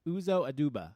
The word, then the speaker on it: Uzo Aduba: love her by can ever say her name Uzo aduba is that right yes luzhou aduba yes nobody